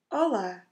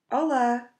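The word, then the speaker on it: olá: words to say hello hello is Allah to open vowels it's not hard at all just repeat with me Allah Allah so you see it's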